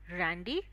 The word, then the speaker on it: Randy: Shivraj, you will be Randy, and Sheetal ma'am, you will be Emily. The pronunciation is, don't mispronounce it.